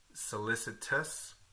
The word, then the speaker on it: solicitous: And then solicitos, not solicit. Solicit is completely different. Solicitous, but make sure you don't forget the ending, solicitous.